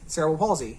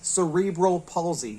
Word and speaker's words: cerebral palsy: Anyway, all that being said, the official pronunciation for this term, according to the dictionary, is cerebral palsy. Cerebral palsy. Now, that's interesting to me because I've always said cerebral palsy.